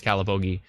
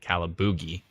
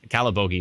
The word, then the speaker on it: Calabogie: By the way, I learned how to pronounce Calabogie when I pronounced it wrong during the 2018, was it 2018 tornado? I think so. I kept calling it Calaboogie, which...